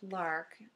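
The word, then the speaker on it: Larque: is our villain and Lark is actually pronounced Lark even though it's l a r q u e is what it looks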